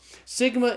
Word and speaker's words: sigma: Rho and then Sigma Sigma is the S sound in Greek so Sigma's pronounced like the s in the English word study one of the things